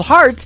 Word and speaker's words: Hart: good friend Robbie Hart it is HR t on her last name and that is called heart in two places yeah I just like your heart that how that's spelled and uh she is